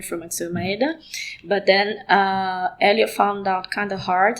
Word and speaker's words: Hélio: In Brazil, it says Hélio.